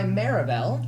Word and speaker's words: Meribel: Today I'm joined by Meribel. Hello, guys. Is that how that's pronounced?